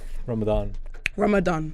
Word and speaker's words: Ramadan: Ramadan.